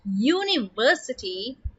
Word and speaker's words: university: University. Now, university starts with the vowel U, but when you listen to its pronunciation carefully, you would hear that university starts with the consonant sound y, university, and y is a consonant sound.